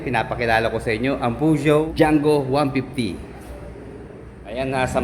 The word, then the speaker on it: Peugeot: Pinapakilala ko sa inyo ang Pujo DJO 150. Ayan na. Sa mga mahilig mamuna ng pronunciation, ni-research po natin ang tamang pronunciation po nito. Nakita nga po natin sa Google, Puo ang kanyang pronunciation.